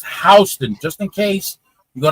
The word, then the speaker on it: Houston: particular street is pronounced Hston. Just in case you go to Manhattan and you see it, you see the sign, it's spelled the same way, but it's pronounced differently.